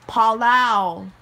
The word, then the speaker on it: Palau: kakistan is iraqi iranian israeli syrian territory it's pronounced palau kosovo is a kosovo is a is a